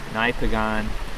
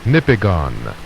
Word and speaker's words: Nipigon: I'm right outside the town, Nipigon, is I think how you pronounce it. Nipigon.